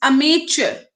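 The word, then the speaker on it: amateur: इसको प्रोनाउंस भी करना सीखो, इट्स अमेचर। स्पेलिंग गलत है, मैं लिखती हूँ स्पेलिंग यहाँ पे, प्लीज नोट करो।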